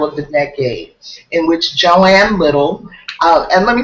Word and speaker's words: Joan: the book that says her name is spelled differently in different places, but it's always pronounced Joanne.